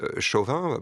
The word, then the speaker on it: Chauvin: policier de Minéapolis, DK Chauvin pour le prononcer à la française, euh elles ont comme servie de représentation et de crédibilisation du euh de la mort d'Adama Traoré.